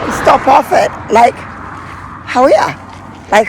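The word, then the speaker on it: Hawea: But we thought we'd stop off at Lake Howea. Lake Howea. How good is that? I actually got back onto the pronunciation dictionary. How we are.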